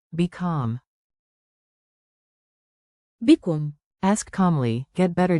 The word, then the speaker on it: بكم: Remember the mnemonic, bi-kam.